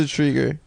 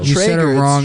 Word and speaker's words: Treyger: Liza Treyger. She's an actual friend of mine and I know how her name is. And it's not Treyger, it's Treyger. It's Treyger.